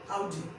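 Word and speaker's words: Audi: क्या हुंडई नहीं Hyundai, आउडी, अब ध्यान रखिएगा, आडी नहीं, अब नहीं, आज के बाद नहीं बोला है कि आडी, आडी का ऐसे नहीं, आउडी, क्या आउडी, that's आउडी, that's a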